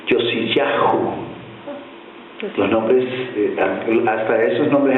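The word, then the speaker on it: יֹאשִׁיָּהוּ: Josías en el idioma hebreo se pronuncia o se lee Yosiyahú.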